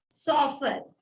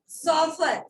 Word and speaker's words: chauffeur: ठीक है, soffer। देखो गूगल से देखते हो तो फिर प्रोनाउंसिएशन भी देखो, ठीक है ना? सॉफर, CHAUFFEUR, ठीक है ना?